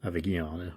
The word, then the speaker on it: Avigliana: Although I do have a little bit of information about this castle of Avignana, or it's spelled Avigliana, but Avignana I think is how the Italians would say it.